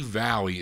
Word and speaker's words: Valli: This is Frankie Valli. It's spelled Valley.